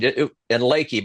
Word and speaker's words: Leakey: I thought it was leaky, but like a Well, leaky no, boat. Leaky. I think most people pronounce it leaky when you look at it, but down there, most of them say Lakey.